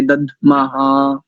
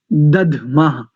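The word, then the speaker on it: दध्मः: ददमा नहीं, दधमा। द ध, तो ध महाप्राण है और द अल्प प्राण है।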